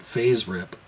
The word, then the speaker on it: FASERIP: it differently than everybody else I call it face Rip but I guess a lot of people pronounce it phase rip uh now for space whip if I was